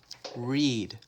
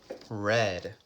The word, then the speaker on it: read: write wrote read read remember in the present we say read but in the past we say read think thought look looked